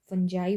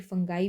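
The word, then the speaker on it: fungi: फंगस फंजाई बना दिया है या फिर फंगाई भी प्रोनाउंस कर सकते हैं आप।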